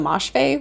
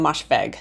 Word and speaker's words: Moshfegh: But also in that video, I wanted to say I pronounce her name Ottessa Moshfegh when her name is Ottessa Moshfegh, so I apologize for mispronouncing her name in that video.